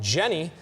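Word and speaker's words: JNY: new radio station called Jenny 107.3 the pulse of the north coast the station was previously home to smooth jazz the name Jenny which is spelled je NY is a play on Generation Y who is the target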